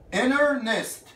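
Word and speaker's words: internist: انر نست، التي دي سايلنت. انر نست، انر وبعدين نست.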